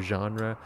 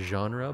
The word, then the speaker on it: genre: it was genre or genre. We pronounce it genre, but a lot of people do say genre, so either or works.